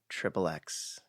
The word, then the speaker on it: xXx: death of Xander cage styliz is xXx and pronounced trip XX there you have it